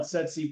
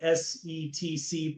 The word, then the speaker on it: SETC: And for the listeners out there, some call it Setsi Pros, some call it SETC Pros.